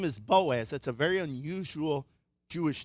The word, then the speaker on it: Boaz: His name is Boaz. That's a very unusual Jewish name. In fact, it only has 2 syllables, and that's like his father is Elimelech, right?